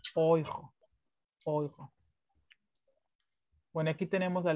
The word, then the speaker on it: Euro: Porque recuerden que la I y la U se pronuncia hoy, como en Deutsch. Hoy. Ya. ¿Qué no? Por eso también aquí en euro, oijo.